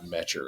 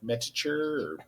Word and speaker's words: Meter: I'm like, "Well, bro, my last name's Meter and everybody's like Metature." Yeah. No, that's not it.